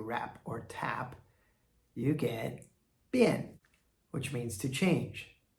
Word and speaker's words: 贬: And our last character for today is a third tone, bian.